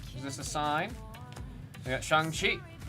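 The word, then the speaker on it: Shang-Chi: We got Shangi. You can always know how to pronounce Shani because remember in the movie he goes by Shan because of Shan.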